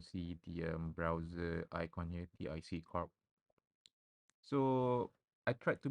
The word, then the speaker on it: TIC: brand called Left with Tick. Left with Tick, but I think they pronounce it as TIC.